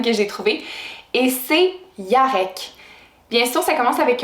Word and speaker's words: Jarek: Jarek, vous pouvez le prononcer comme vous voulez, donc Jarek, Jarek ou Yarek. Donc, c'est 3 façons de le prononcer. Je pense qu'à la base, le prénom se prononce vraiment Yarek.